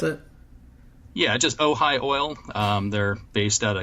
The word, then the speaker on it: Ojai: in called Ohio oil is that how you pronounce it yeah just Ojai oil they're based at a Camarillo which is